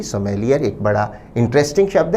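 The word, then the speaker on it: sommelier: इसका शुद्ध उच्चारण विद्यार्थी ध्यान दें, सोमेलिये।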